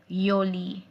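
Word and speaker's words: Juli: So the next month of the year is Yoli. Yoli. Yoli. Remember, J is pronounced as Y.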